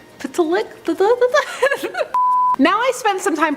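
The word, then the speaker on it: Mxyzptlk: Mitzelplick. Mitzelplitlick. Mitzelplitlick? Pitlick? Now I spent some time practicing how to say this, and I ended up going with the Superman animated series Gilbert Gottfried pronunciation.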